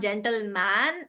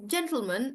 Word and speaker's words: gentleman: All the words like gentleman, it's again not gentleman, it's gentleman because I'm stressing on J.